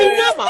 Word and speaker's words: Inyama: It is Inyama. Inyama, actually, not Inyama. Inyama. Oh, sorry. Please, put some joy and respect and love. It's Inyama, actually. Everybody keeps pronouncing it wrong.